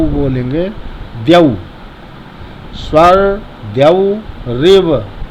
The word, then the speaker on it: द्यौ: फिर बोलना है स्वर द्यौ। देखिए द्यौ लिखा, द के नीचे या लगाएं। यौ, या में औ की पाइए तो औ नहीं बोल कर औ बोलेंगे, द्यौ।